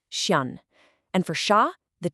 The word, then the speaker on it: chien: For chien, it's a nasal sound at the end. You literally do not pronounce the N. It's chien.